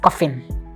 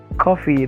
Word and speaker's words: coffee: E I call you because my madame talk say make I make um cup of coffin. Oh it's coffee. That's not how to pronounce it.